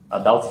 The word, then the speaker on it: Adaucto: A Dalto tem um C mudo ali, não sei que não se pronuncia. Não é Dalton? Mas a Dalto que não se pronuncia, o C não se pronuncia, né?